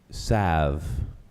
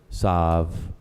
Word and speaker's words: salve: word has several pronunciations Lord is a primary pronunciation is salve it's also pronounced south or solve or solve ya the definition of salve is